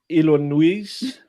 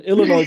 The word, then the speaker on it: Illinois: if you know this, they took away the S in Illinois because it's a French way to pronounce it.